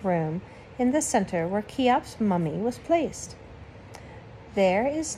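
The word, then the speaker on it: Cheops: by a king named chiops that name is pronounced just like kiops here is his date keops 2900 bc my goodness son i feel like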